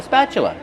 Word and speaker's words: spatula: Use the short a sound like black cat. Spa plus the ch sound like chicken. That's right. The t is pronounced with the chch-ch sound. Spat. Spatula. Then use the close sound uh like cup and up.